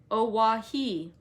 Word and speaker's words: Oahu: i named him after this island oahu pronounced oawahi that's what it says